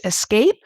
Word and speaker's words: Aescape: And I'm going to talk to the company at the forefront which is Escape. Many of you have probably seen that. It's spelled AE S C A P E.